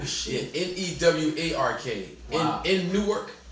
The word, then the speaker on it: Newark: In Newark, it's pronounced Newark.